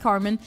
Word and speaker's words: carmine: Is it called is it pronounced Carmen? Let me see. Carmine. No, it's pronounced Carmen. It has Carmen in it, so it's not vegetarian.